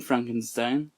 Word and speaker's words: Frankenstein: to add to this in the movie young frankenstein sorry sorry i know it's pronounced frankenstein my name it's pronounced frankenstein in